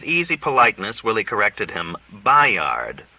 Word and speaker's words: Bayard: Simpson had occasion to mention a New Brunswick boarding house called the Bayard, and he pronounced B-A-Y as it is spelled. With easy politeness, Willie corrected him. "Bayard," said Willie.